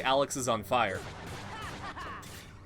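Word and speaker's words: Alexisonfire: the name i mean it's obviously alex is on fire it's a band about just a guy that's burning the entire time now i think the most people pronounced it alexis on fire i just i have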